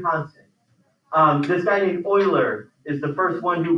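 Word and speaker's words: Euler: oh jeez oh no that's how you spell his name Oiler I know it looks like you know it sounds like it should be right Oiler something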